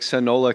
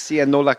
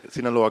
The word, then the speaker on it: Sinaloa: on the springsteen album it looks like sonola cowboys it's sienola cowboys yeah that's a sinaloa cowboys so if you're from siennola